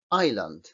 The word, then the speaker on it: island: s cuando veis que en fonética no lleva s es decir no se pronuncia la s por mucho que nos empeñemos Island esta Trade aquí Qué